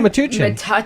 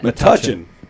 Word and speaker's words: Metuchen: Metuchen. Metuchen. But if you're in Long Island, you pronounce it Metuchen.